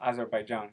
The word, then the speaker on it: Azerbaijan: it did piss me off because during last weekend, Azerbaijan, whatever, I don't know how to pronounce it. Oh, Azerbaijan.